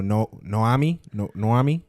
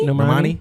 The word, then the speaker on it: Normani: So Noami, that's how you say it? Normani? Normani?